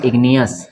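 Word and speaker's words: igneous: जैसे इसको पढ़ेंगे हम मैग्नेट, इसमें जी साइलेंट नहीं रहेगा, इसको पढ़ेंगे मैग्नेट। इसको पढ़ेंगे इग्नियस, इसको क्या पढ़ेंगे इग्नियस, ठीक है।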